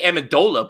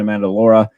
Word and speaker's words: Amendola: I think I messed it up when I introduced him, but yeah, because I just want to say Amendola, but it's Amendola.